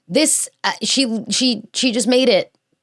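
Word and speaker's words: sidhe: It's not pronounced seed. It's pronounced she, which that's Gaelic for you, I guess.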